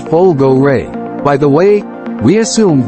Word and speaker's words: Folgore: when we first saw the folgore pronounce it Pol go Ray by the way we